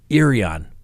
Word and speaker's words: Irion: any information regarding naomi irian i know it's spelled i r i o n but it's pronounced irian who knew a crazy